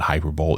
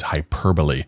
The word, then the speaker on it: hyperbole: It's not hyperbol, it's hyperbole.